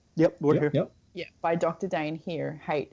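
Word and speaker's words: Dain Heer: Dane here hey it's spelled da I in hate EE are now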